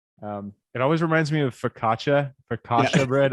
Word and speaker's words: focaccia: It always reminds me of focaccia bread. I always said focaccia, but people say focaccia is the right way to say it.